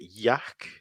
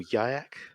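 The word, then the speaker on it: Yhwach: name it's like a I just say yak but it's like yeah it's like a like a t in the end it's German yes but I didn't do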